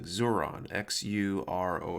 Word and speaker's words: Xuron: Z, it's actually an X, Xuron, Xuron. I think that's how you pronounce it.